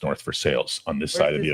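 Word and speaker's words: North Versailles: It's just that everybody knows that it's pronounced North for Sales on this side of the ocean. What? Versailles.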